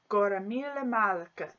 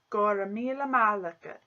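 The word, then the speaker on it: Go raibh míle maith agat: And this is how it's pronounced. Gora mille malaka. Gora mille malaka.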